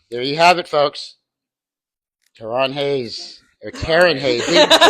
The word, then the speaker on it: Taryn: It's like Aaron but with the T.